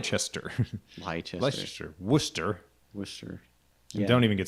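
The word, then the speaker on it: Worcester: Wooster Wooster you don't even get started on the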